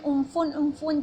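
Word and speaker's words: Amphan: और वेस्ट बंगाल के जो गवर्नर हैं जगदीप धनकर, और रिसेंटली वेस्ट बंगाल में एम्फेन उम्फुन जिसको प्रोनाउंस किया जा रहा है, और वो साइक्लोन भी रिसेंटली आया हुआ है।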